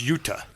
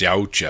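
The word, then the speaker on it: Yautja: of the big things they say about the Yucha is what they're called, right? Is that's how you pronounce it. Yucha. That's how they say it in the show. So, who thought it was Utah? No, it's Yaucha.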